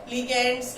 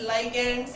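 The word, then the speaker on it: ligand: तो इनको लीगैंड्स, लाइगैंड्स, लीजेंड्स कुछ भी बोल सकते हो आप, ठीक है। अलग अलग बुक में अलग अलग प्रोनाउंसिएशन, कई लोग डिफरेंट प्रोनाउंसिएशन करते हैं।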